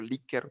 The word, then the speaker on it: Likert: Esa escala tipo Likert, o Likert también, dependiendo cómo se quiera pronunciar, nos va a ayudar digamos, a analizar de manera cuantitativa la información.